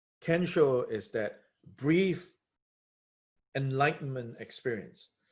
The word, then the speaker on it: kensho: in the Zen tradition they call it ginseng and kensho in japanese pronunciation can show is that brief enlightenment